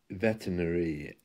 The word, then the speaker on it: veterinary: week my weekly lesson is all about vets Veterinary at surgeons and the r is silent Veterinary if you say it slowly it's